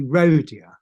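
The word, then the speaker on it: Rohdea: Manor rodia rodia and how do you say it rhodia well I say rodia dead they're Japanese basically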